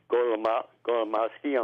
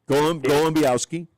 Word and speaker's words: Golombiowski: Yes, Scott, there's a player on the team, Dave Golomowski. I'm not saying it right. Yep. Golombiowski.